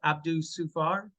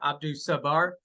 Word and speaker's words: Abdul Sabar: We now welcome in mayoral candidate Abdul Sufar. Excuse me, I butchered that. Abdul Sabar.